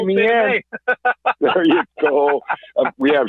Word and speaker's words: Meehan: See, I said it right. Meehan. You got it right, man. Thank you. I know, because I'm looking at Me and May on the computer right now. There you go, Meehan.